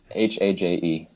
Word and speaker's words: Haje: Haje.